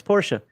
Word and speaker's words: Porsche: say porsche no it's porsche pronounce the e it's german i don't see it